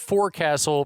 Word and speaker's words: forecastle: Yeah, the spelled forecastle, pronounced forecastle. The forecastle. So that's in the British English tradition of pronouncing words with more letters like they have far fewer letters than they have.